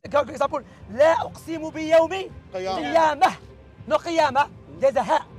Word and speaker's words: قيامة: You can say قيامة without T. Why? تاء becomes ها.